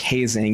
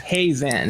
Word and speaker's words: Hazen: Well, I'm a stickler for names because when you grow up with a name like Hazing, you get, is Hazing here? It's like, no, it's Hazen.